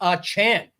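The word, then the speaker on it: Achane: good nickname but then Adam schefter went and clarified and said it's actually a Chan a much worse pronunciation than what you would expect and what you were hoping for I think right now that it's a Chan now somebody you know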